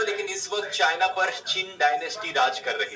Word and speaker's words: Qing: ये वाली चिन डायनेस्टी का नाम QING है, उसमें सिर्फ QIN था, प्रोनाउंसिएशन सेम है।